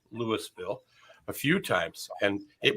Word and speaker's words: Louisville: Well, It's actually like you're saying three syllables in one. Louisville.